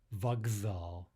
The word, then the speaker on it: вокзал: Finally, train station, we're voicing the K to a G. Vokzal. Again, let's look at a longer